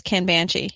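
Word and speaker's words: Kanbanchi: kind of banshee now I could be saying it wrong I know Chris says Ken banjee he blames it on his New Jersey nests however I'm not really sure but it spelled kan ba n CH I it's an online tool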